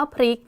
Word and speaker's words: พริก: เรา นะ คะ อ่าน คำ ว่า พริก เป็น พริก โดย ใช้ ล ลิง นะ คะ คำ ๆ นี้ เนี่ย ก็ จะ เปลี่ยน ความ หมาย ไป เลย ค่ะ พริก นะ คะ จะ แปล ว่า การ กลับ ไป กลับ มา นะ คะ ซึ่ง ความ